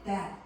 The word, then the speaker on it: debt: 그런 이후에 왜 너가 build up a sleep debt, 그러니까 여기서 sleep debt이라는 이 표현 수면의 빚인 거지. 수면 빚. 여기서 debt 할 때 B가 묵음이어서 소리가 안 나.